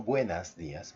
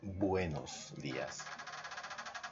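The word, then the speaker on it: buenos días: always is buenos dias no buenas Dias but buenos dias say with me Oh buenos dias one more time buenos yes exactly that's how you say it ok and that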